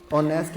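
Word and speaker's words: honest: अगर sound vowel है जैसे ऑनेस्ट में फर्स्ट लेटर एच जो है वो साइलेंट होता है नरे बल में फर्स्ट लेटर एच जो होता है वो साइलेंट होता है इनको हम प्रोनाउंस नहीं करते हैं दोनों की प्रोनंसिएशन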